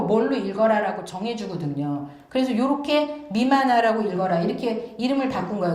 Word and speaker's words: 任那: 그래서 일본 서기에 나오는 임나를 자꾸 임나라고 읽으시면 안 됩니다. 여기 이 미마나라고 읽으라고 나왔잖아요. 그러니까 미마나라고 읽으셔야 돼요.